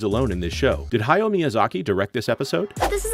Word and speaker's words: Hayao Miyazaki: a butthole as well it's Hayao Miyazaki not hayo Miyazaki learn to read YouTuber